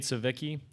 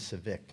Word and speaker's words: Scivicque: Cade Savicki, Alex Lang, and Alex Bregman. Coach, if you'd begin with an opening statement. First of all, the correct pronunciation is Civic, not Savicki.